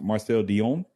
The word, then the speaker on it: Marcel Dionne: I think it's pronounced Marcel Dionne.